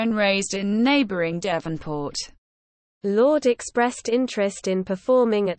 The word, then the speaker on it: Lorde: 7th of November 1996 known professionally as Lord pronounced Lord is a New Zealand singer